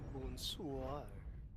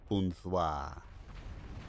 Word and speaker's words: bonsoir: Bonsoir. No, you do not pronounce ya. It's bonsoir. Bonsoir.